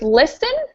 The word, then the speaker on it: listen: B is silent and the word listen the t is silent and as well as